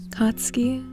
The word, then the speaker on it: Katsuki: he cut you off katsuki he unsatisfied i like the way you say it putting emphasis on the ending syllables it's you sat up